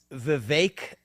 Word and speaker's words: Vivek: So it's Vivek like cake. Vivek.